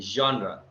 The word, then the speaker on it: genre: It's not Yeah. genre, but genre.